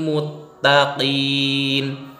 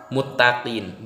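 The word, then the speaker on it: المتقين: hudaw wa mau'izatan lil muttaqin. Muttaqin, bukan muttaqin. Bacanya muttaqin barusan. Mutta, ta sama to itu beda.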